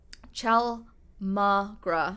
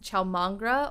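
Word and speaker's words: chaulmoogra: going to butcher it ciao magra so i believe it's pronounced ciao mangra oil which was a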